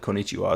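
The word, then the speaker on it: こんにちは: Like konnichiwa is spelled with an HA as well, or the ha character.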